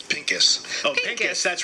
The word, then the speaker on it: Pinkus: stuff i can pronounce it how do you pronounce it again it's pinkis oh pink yes that's right the pills are